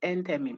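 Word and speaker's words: enthymeme: are saying end I mean but it is pronounced Enderman it's in the textbook e-n-t-h-y-m-e-m-e-n-tem okay what is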